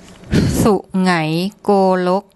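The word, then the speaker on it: Sungai Kolok: So again, I'll just get my wife and assistant to give you the correct pronunciation for this place. Su ngai golok, su ngai golok, su ngai golok.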